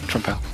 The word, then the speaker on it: Trempale: How the hell you pronounce it? I still have no clue. Hi. Hello. Yeah, that was right, Trempale.